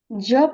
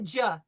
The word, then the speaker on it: je: Je parle. Tu parles. No, Dr. Deepti, don't make a hard J. No ja, it's je.